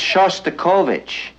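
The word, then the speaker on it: Shostakovich: uh we're hearing uh chok you know that's choic and since you're a musician it might not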